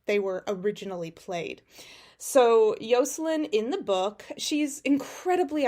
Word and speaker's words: Yocelin: spell it differently but yoslin is how a lot of how you say Jocelyn because the the in Spanish because in Spanish if you